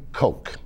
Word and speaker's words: Koch: in the world and they pronounced their name coke but because we're doing